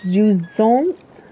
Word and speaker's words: Jusant: So to break that down, the T and the first syllable consists of a soft G sound like in Jean, followed by a phenome you don't have in English but sounds very similar to an umlaut. The second syllable consists of a Z sound, Jusant, and ends with a nasal A that sounds like saying on.